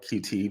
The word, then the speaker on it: Qt: like a framework um they call it cute I call it QT because that's how you spell it but um qml programming